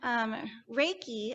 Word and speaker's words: Reiki: It's pronounced Rei, like rays of the sun, and Ki, like you're going to use a key to unlock something.